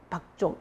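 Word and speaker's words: 貊族: 맥족은 음이 박입니다. 박. 우리 음이 박이고 한자로 기록이 된 게 이제 맥이거든요. 맥족, 박족. 읽을 때는 박족이라고 읽는 게 맞습니다.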